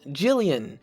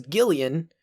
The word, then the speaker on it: Gillian: for a fact that it's pronounced jillian because he says jill and they both respond so if it was gillian there would be no confusion here there'd be none but because they are one shortened down to jill they are both pronounced the same so there you go